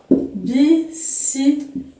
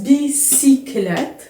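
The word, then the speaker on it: bicyclette: نعطيكم اون بيسيكليت. فوالا ولاحظوا معايا ان في كلمه بيسيكليت y كتنطق بحال اي، كنسمعوا واحد اي هنا.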